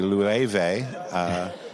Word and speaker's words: Loewe: I'm going to pronounce this correctly, Loewe, which almost everybody I've ever met who's not in the industry or knows that it's a Spanish brand, not a French brand.